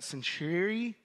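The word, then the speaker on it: Cenchreae: sailed he had cut his hair off at centuy that's how you pronounce it because of a vow that he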